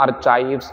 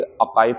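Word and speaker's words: archives: है बच्चों अका देखो इसे ना आर चाव आर् चव्स ना पढ़ के इस अकाव पढ़ना है आर साइलेंट करना अ केप्स ठीक है ना यह क्या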